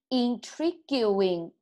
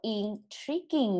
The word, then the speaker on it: intriguing: intriguing，错啦，它没有 gu 的发音，它直接叫做 intriguing 啊。